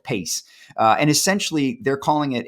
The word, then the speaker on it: PAYCE: But Ramco has launched what they call PACE, PACE, or PAYCE is how it's spelled, PACE.